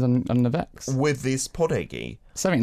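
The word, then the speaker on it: 포대기: A podegi. A podegi. It said like a homie as well. Podegi. Podegi in the Korean pronunciation.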